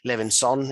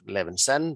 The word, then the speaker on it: Levinson: easy and very often my last name ender ends up with a living song instead of levinson but it's levinson